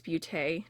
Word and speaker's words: Ace Beauté: It sounded like booty, but it was like beau. Okay, beau is beautiful in French, and it's pronounced like beau, and then I think it's tay, like beauté, but not booty.